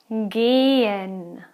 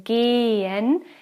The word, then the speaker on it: gehen: G, gehen. When you have an H after a vowel, as here in gehen, the H itself is not pronounced. It just makes the vowel sound a bit longer. Gehen.